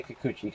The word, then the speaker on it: Kikuchi: before we crack this last box I'm even pronouncing his name right you say excuse me you say Kikuchi comes right up for the Seattle Mariners of